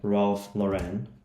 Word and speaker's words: Ralph Lauren: Let's say, okay, let's make it like Ralph Lauren. That's how you pronounce that brand, and see what it picks up.